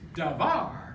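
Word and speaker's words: דבר: With davar, that's two syllable, with accent on the ultima.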